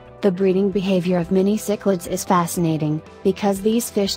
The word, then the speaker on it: cichlids: This large group of fish, the name of which is pronounced cichlids, originates mainly from Central and South America and Africa, although three species, including one recent rediscovery, are known to come from Asia.